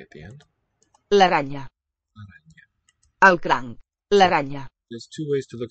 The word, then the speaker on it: araña: La araña. Probably a palatalized N. Al crank. Don't hear a K at the end. La araña.